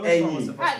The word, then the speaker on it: ẹyin: Can you can you pronounce it? Eyin. Ẹyin. You. And this you can Or ẹyin. ẹyin. Ẹyin is like ẹyin. No, this one. Wait. Ẹyin. ẹyin. You can say bag. You can say ẹyin.